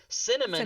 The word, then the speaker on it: cinnamon: brain just won't let you say it so cinnamon is easy because you can say you can